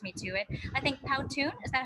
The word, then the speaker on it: Powtoon: because you introduced me to it i think powtoon is that how you pronounce it uh yeah yeah that's it that's